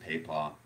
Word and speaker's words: pipa: we call playing the pipa. Now, some people pronounce it pepa.